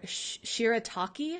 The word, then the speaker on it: shirataki: I don't botch the name of them they're shirataki I think is how you pronounce it they're made from white yam which